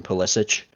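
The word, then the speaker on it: Pulisic: yeah he that's why his name is psic and some commentators pronounce his name pich his grandfather was cro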